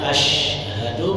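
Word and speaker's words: أشهد: Harusnya asyhadu menjadi ashadu. Perubahan huruf shin menjadi sin pada kata asyhadu menyebabkan perubahan arti.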